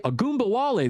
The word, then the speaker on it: Ogunbowale: The Raiders signed running back Dare Ogunbowale Agbunbowale, there we go. It's such a hard name to pronounce.